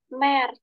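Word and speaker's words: März: M, A umlaut, R, Z. Dibacanya Mer.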